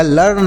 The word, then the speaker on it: learn: ई ए आर एन लिर्ण पढ़ेंगे नहीं सर इसे लिर्ण नहीं पढ़ेंगे तो फिर क्या पढ़ेंगे सर इसे पढ़ा जाएगा लर्न एल ई ए आर एन लर्न पढ़ेंगे आप इसके बारे में